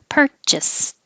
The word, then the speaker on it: purchased: understood in the context purchased the ed sounds like a t purchased but i'm